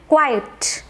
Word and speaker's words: quiet: बहुत ध्यान से सुनो, बहुत से लोग इस वर्ड को मिसप्रोनाउंस करते हैं और बोलते हैं क्वाइट, जबकि इसकी राइट करेक्ट प्रोनाउंसिएशन है क्वाइट, क्वाइट, QUIET। आपने इसको राइट प्रोनाउंस करना है, करेक्ट प्रोनाउंस करना है और याद रखना है कि इस वर्ड की प्रोनाउंसिएशन है क्वाइट।